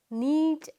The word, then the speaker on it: knead: pair of words are need and need see the spelling K and e a d need and n e e d need both are pronounced as need and need and the meaning are